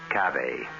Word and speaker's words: cave: word spelled the same way C A but pronounced cave it means beware our cast included Marian seldes